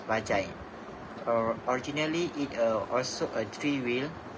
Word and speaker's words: Bajaj: The word Bajaj comes from Indian's transportation company Bajaj Auto and pronounced as Bajai.